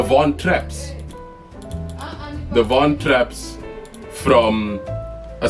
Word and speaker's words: Von Trapp: The Von Tropps. The Von. What? How do you say it? The Von Trapps.